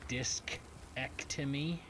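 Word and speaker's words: discectomy: I had a disc ectomy because if I say any other way it sounds like I had something else removed and uh no that's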